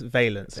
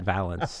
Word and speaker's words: Valence: oh first and foremost I realized I've been pronouncing it wrong the entire time so it's veilance not balance say 50 it's 5050 people pronoun